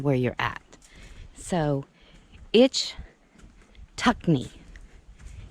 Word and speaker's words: Ichetucknee: where you're at so itch tuck knee itch tuck me i believe is the way that it is pronounced and if it's not